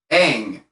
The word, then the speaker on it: Aang: important to note that the pronunciation of his name is and always will be aang apparently some people have